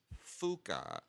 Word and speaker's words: Fuka: I'll get in trouble if I don't it's fuka f u Ka don't don't mispronounce it uh this is again School school